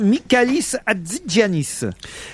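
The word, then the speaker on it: Michalis Hatzigiannis: Alors là, je dois dire Mikalis Adzanis. Oui, c'est un Est-ce que je prononce bien d'abord ?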